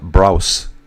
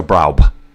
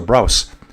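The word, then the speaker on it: Brauß: me to say Braub with that weird little B. This is called a Starfess, and it's pronounced like a double S in Miss. So Braus.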